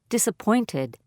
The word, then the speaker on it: disappointed: Stress on third syllable. Disappointed.